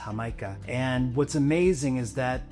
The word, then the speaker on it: Jamaica: Next little extra is hibiscus water, and in Spanish it's spelled Jamaica, but it's pronounced Jamaica.